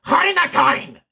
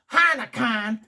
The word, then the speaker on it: Heineken: But actually, this German folk I met, they actually pronounced it Heineken.